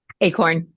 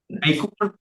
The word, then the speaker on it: Acorn: we'll hear from the victim Miss a acorn or a you're going have to help me being from North Louisiana how do you say that last name acorn acorn okay that's what okay yes sir good morning